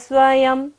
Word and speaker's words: स्वयं: सध स्वयं, य के ऊपर बिंदी है और उच्चारण क्या होगा, म। बाद में क्या आ रहा है वर्ड, व। य र ल व होता है, तो बिंदी का उच्चारण क्या होता है, म।